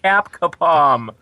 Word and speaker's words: Capcom: man before we started I told you it's pronounced cap kapom MVC MVC there you go and basically I